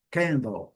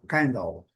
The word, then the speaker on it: candle: Mesma coisa, candle, letra E não é pronunciada. A primeira sílaba é a sílaba forte, nós estamos vendo aqui, e o A recebe o seu som puro. A. Então, candle, candle. A pronúncia do L. E a pronúncia em duas sílabas, uma mais forte e a outra bem fraca.